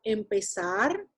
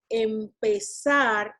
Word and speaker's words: empezar: So that's why, because we say empezar, we don't say empezar, we say empezar, even though the accent of that word resides over that sar syllable, okay, within the stem, the one that has more strength, it's pez, or pez.